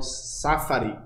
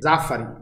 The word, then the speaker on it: Zafari: Quem eu vejo de vez em quando debatendo isso é um camarada do PCBR, o Gabriel Safari. Acho que é assim que pronuncia o sobrenome dele. Zafari.